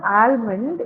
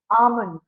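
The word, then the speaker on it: almond: pronounce this elmond H it is not alond you have to actually silence the L here okay l in the word it is silent you have to pronounce it as alond okay alond alond yeah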